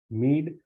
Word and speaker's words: mead: bag category called meal Mead rhymes with need is a gluten-free beverage